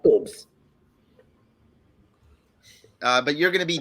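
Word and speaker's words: Bobs: Oh, boobs, but it's spelled B-O-B-S. So we pronounce it Bob's here. No, it's pronounced boobs.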